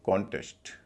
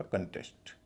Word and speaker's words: contest: Noun के रूप में बोलेंगे कॉन्टेस्ट, पहले पर स्ट्रेस है, CON का उच्चारण होगा कॉन। लेकिन वर्ब के रूप में इस्तेमाल करेंगे, उच्चारण होगा कंटेस्ट।